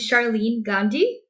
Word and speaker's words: Sharlene Gandhi: So I'm very excited to be here with Sharlene Gandhi. Did I pronounce this right?